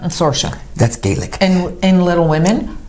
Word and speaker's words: Saoirse: Saoirse? Saoirse.